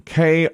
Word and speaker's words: KREM: from a tv station k-r-e-m where is it spokane washington okay and we've heard from people who have lived in that area that they actually pronounce it krem they say it like a word well i wondered about